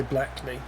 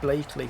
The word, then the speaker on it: Blackley: Anyone from outside the area would say Blackley, but it's pronounced Blakeley.